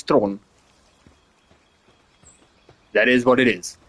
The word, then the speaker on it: Theron: Yeah, in her native language where she's from, South Africa, it's not Charlie's Theron, it's Charlie's throne.